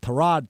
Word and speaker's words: Tyrod: I I think that's the case here with Trod Taylor because everybody's already always called him Tyrod Taylor.